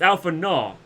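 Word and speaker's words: Alphinaud: you at your service it's Alpha new or Alpha no is it Alpha node or Alpha new he keeps every time I hear his name it sounds he's saying Alpha new or Alpha na it's Alpha na your reputation precedes you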